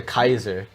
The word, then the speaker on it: Caesar: Actually, they call him the Kaiser. Oh. So yes. So they pronounced it wrong, which is like a joke because one guy goes, "Wait a second, isn't it pronounced Caesar?"